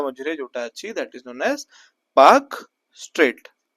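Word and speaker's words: Palk Strait: India Sri Lanka ma that is known as Park straet p a l k not p a k but pronunciation p a k Park stet the rhythmic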